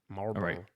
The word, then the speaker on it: Marlboro: Like mar like the cigarettes. Marlboro. Marbor. You say the L. The L is silent. Marbor.